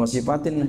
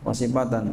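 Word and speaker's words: وَصِيفَةً: dayang perempuan yang mati Bukan wasifatin bacanya wasifatan wasifatan maitatan jadi kita beri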